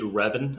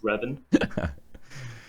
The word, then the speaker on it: Reven: How do you pronounce his name? It is indeed Reven, apparently. Fake news managed to get through all 25 permutations of his name before landing on the right one. But it is Reven.